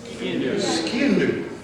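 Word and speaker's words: sgian-dubh: Skindu.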